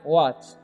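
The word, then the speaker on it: watch: हो रहा है, क्योंकि आपको ध्यान रखना है TCH जब भी रहेगा ना, तो टी का उच्चारण यानी कि साइलेंट हो जाएगा।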